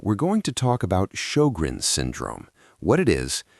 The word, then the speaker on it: Sjögren's: Sjögren's, pronounced show-grens, is an autoimmune condition.